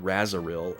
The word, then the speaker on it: Razril: Spelled like Razril, but they said Razaril in the VA.